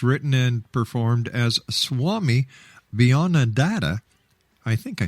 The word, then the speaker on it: Beyondananda: Once again, how do you pronounce the name of your alter ego? Beyondananda.